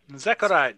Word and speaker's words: Zechariah: uh zechariah was that zechariah is correct uh the second k is silent well maybe it's the first honestly my mother had a